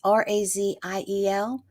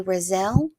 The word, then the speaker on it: Raziel: It's R A Z I E L. Most people say Raziel, some people say Razelle. I feel like whatever you're most comfortable with, that's the right way to say it.